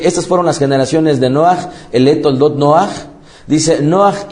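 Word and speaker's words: נח: Pero la H, al darle un sonido grutural, pronunciaría más o menos como Noach o Noach.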